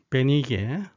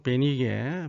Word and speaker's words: 보니게: 수로는 시리아 국가를 나타냅니다 그다음에 보니는 일반적으로 베니게 보니게 이와 같이 발음을 합니다 페니키아 지역을 의미합니다 해서